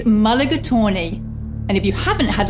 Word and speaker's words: mulligatawny: of Indian descent it's quite a mouthful the pronunciation that is its mulligatawny and if you haven't